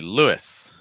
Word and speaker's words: Lewis: third one will be Lewis Lewis uh I you have an oo sound like in soup or two Follow by short I sound is Lewis next one Olivia so